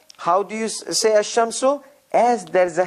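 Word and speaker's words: الشمس: is pronounced al kamar in sun letters there is a shadda on on it and the article goes away it becomes asham so this is how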